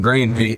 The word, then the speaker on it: Granary: the proper spelling of Granary. It's spelled like canary with a GR on the front.